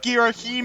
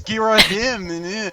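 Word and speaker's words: Ghirahim: Because they were like, no, it's pronounced Fee, and it's not Girahim, it's Girahim, and it's just fan rage so hard.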